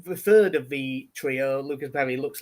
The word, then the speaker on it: Lucas Perri: They do pronounce the S. It's not Luca Perry. Yes. Yes. So I think it's Lucas Perry.